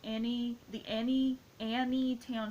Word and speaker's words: Anytown: and together, and it's called Annie Town Show. Like it's spelled Anytown, and it's got so many great characters.